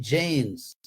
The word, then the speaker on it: Jains: cómo pronunciar en español, en inglés se dice Jains, de India.